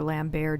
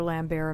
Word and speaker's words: Lambert: mortal kombat there's like oh actually it's lambert and i'm like no it's lambert he's french you idiot look it up i